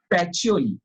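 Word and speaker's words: Pacioli: luca d bargo pacholi the pronunciation is patcholi okay luca de bargo pachioli uh he's the actually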